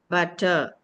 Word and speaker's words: butter: We can't see the ra sound. So you should not articulate the ra sound.